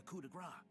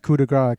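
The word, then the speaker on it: coup de grâce: Then the greater force at Brigantis falls upon them to deliver the coup de grace. Oh, you pronounced coup de grace correctly, yeah.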